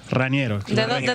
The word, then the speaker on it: Raniero: político presente en modo opinión tu nombre se pronuncia janiero raniero es ese nombre es una disputa que hubo